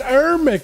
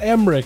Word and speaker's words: Heric: and Emer yeah heric it's herik not Emer you I've been saying